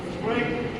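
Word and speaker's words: cruet: At the end, since more people use salt than pepper, the salt should আজকে বললাম যে ক্রোয়েট সেট, ক্রোয়েট উচ্চারণ করছি ক্রোয়েট, স্পেলিংটা দেখ ক্রোয়েট, স্পেলিংটা দেখ ক্রোয়েট সেট মানে কি?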